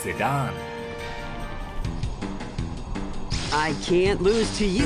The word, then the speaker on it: Zidane: to Final Fantasy Dissidia his name is actually pronounced Sudan I can't lose to you at the dawn honestly I've been calling him Zidane for so many years now and nothing is